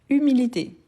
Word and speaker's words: humilité: Humilité. H muet ou H aspiré. Humilité. H muet ou aspiré. Super, donc c'est l'humilité. Donc c'est un H muet.